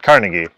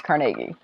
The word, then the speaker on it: Carnegie: And then Carnegie is how everybody says that, but everybody else says it Carnegie. Unless you're in Pittsburgh. Unless you're in Pittsburgh. And it's Carnegie. Which is probably how it originally was said, but...